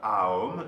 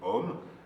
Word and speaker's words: Aum: Donc le pranava mantra qui vient d'une syllabe Aum et non pas un seul son, Om.